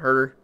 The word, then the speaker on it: Huerter: Kevin Herter, I think that's how you say his name. Always I want to say it's something different, but I'm pretty sure it's Kevin Huerter.